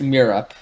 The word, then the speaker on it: Merope: It's literally spelled like me-rope, but that can't be how it's pronounced. I refuse to believe that. Me-rope. That's all she actually has. I'm pretty sure though. it's Mirup.